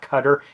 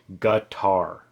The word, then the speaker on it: Qatar: It's not cutter. It's not kater. It's guitar. But it's basically with a g guitar.